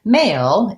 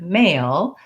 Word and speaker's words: male: So both of these words are spelled differently, but they both have the exact same pronunciation and the same sounds. What to watch out for in the word male is that we have the tense a diphthong. So in American English, a is 2 sounds.